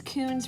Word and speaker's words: Koons: jeff kuhn okay um i love how his coons rhymes with balloons i don't know so